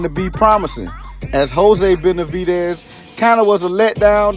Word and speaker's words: Benavidez: Yeah, I got to say it right this time, David Benavidez.